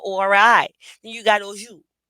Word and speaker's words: oju: Then you got oju. It's spelled O-J-U, but it's pronunciated O-J-O-O.